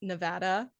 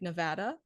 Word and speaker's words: Nevada: Also, I am very happy to hear that you pronounce Nevada like Nevada and not Nevada.